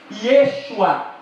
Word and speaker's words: Yeshua: Ao descer o povo à Babilônia, caiu-se alguma letra e a pronúncia tornou-se Yeshua, através de alguma influência do aramaico.